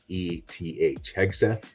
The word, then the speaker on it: Hegseth: because there's people that actually Can't pronounce this guy's name. Hegseth. Hegseth. No. Pete Hegseth.